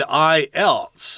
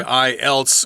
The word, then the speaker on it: IELTS: He says, including the TOEIC, TOEFL, and IELTS.